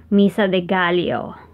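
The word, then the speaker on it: Misa de Gallo: which look which in the philippines would be pronounced mesa de Gallio we pronounce the two L's as Leah leo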